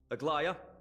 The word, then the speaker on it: Aglaea: Aglaea.